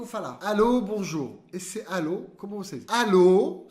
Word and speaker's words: allô: Esse alô, como vocês? Alô, só que lembra que a sílaba tônica fica no final.